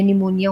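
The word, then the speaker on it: pneumonia: ओ एन आई ए निमोनिया होता है लेकिन निमोनिया पी से स्टार्ट होता है तो पी से स्टार्ट होता है ये लोगों को नहीं पता होता है क्योंकि पी साइलेंट होता है तो आपने खा कि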